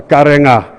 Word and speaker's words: Karenga: Your pronunciation is better, Karenga. Because they wrote NG, Nga for me it's written as Nga.